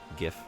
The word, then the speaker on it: GIF: Soft G. Do G like game? No. G like gif. Gif.